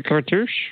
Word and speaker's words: cartouche: You mean the cartouche? Cartouche. There we go. Yeah, I should remember cartouche because rhymes with douche.